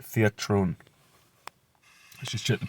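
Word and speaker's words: θέατρον: Right, theatron. Let's just check the pronunciation. Strong's G 2302. Theatron. Theatron.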